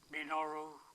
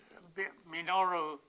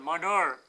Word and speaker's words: Minoru: He got the nickname because Minoru, people at that language can't pronounce Minoru. They pronounce it Manur.